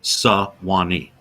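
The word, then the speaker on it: Suwannee: I always cross the Swany River. And it's not it's not spelled like it is in the song. It's suani. It's an Indian name or a Native American name.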